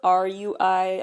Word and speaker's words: RUI: WeI, one of the newest K-pop boy bands, officially announced their fandom name, which is spelled R-U-I. I believe it is pronounced Ru-I, as their name is W-E-I, pronounced WeI.